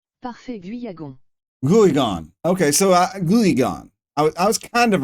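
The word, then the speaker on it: Guiagon: Okay, so Guyagon. I was kind of right. And then the other guy I wanted to pronounce was this dude.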